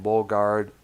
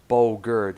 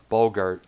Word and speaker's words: Bogert: robert delong lowlands Oh on the vocals tim Bogart Boger excuse me Bogert I've had trouble pronouncing last names though bar Bogert knows a bo g ERT a bogan Bogart